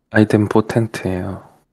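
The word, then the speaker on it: idempotent: 이거 뭐라고 읽어요? 아이덴 포텐트예요.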